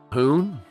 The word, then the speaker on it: Fhun: Yeah, you gotta do a long pause and then say the second part of his name. Fhun?